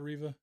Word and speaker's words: Riva: It is Riva, right? Yes, Okay. you're saying it correctly.